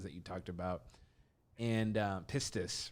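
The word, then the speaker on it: πίστις: And pistis, right? Am I pronouncing that correctly?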